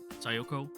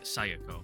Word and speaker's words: Sayoko: acquainted with before um sayoko sooko I remember us having trouble pronouncing her name I really wanted to say like Sako but it's not it's not an a it's an O but I don't like